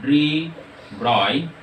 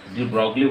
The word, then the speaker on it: de Broglie: এই যে ধারণাটা, এই ধারণা থেকে আমাদের যে বিজ্ঞানীটার নাম বললাম দা ডি ব্রয়, বা অনেক ক্ষেত্রে ডি ব্রগলি বলে, যাই হোক উচ্চারণের সঙ্গে ডিফারেন্স নেই। তো এই ডি ব্রয় এই